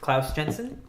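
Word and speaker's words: Klaus Janson: With Brian Azzarello, they've been working on Batman: The Dark Knight 3 with Klaus Jensen.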